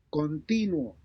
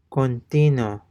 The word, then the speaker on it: continuo: continuo, continuo, And notice that the U is not pronounced, or even the sound of the U is not discernible.